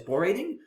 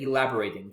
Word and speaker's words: elaborating: of natural to just get stuck in pronouncing it as Bor rating and it might not be entirely obvious that when you put tiles uh in front of it the pronunciation changes a little bit to elaborating the uh bo kind of goes more with the ELA as opposed to the aing so I'm sure definitely